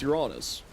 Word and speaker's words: Uranus: Yeah, that's how you pronounce Uranus.